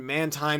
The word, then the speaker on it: Mantine: That and Mantine is the pronunciation, not Mantine.